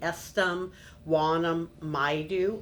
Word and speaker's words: Estom Yumeka Maidu: Uh the tribe's name is the Estam Wanam Maidu of the Enterprise Rancheria.